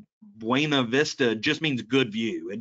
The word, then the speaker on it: Buena Vista: yankee or not so to everyone else this would be buena vista in virginia it's buena vista and buena vista was a mid-1800s master planned industrial community so even their name buena vista just means good view